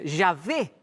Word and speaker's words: Yahvé: Se escribe Y, H, W, H. O sea, Yahvé.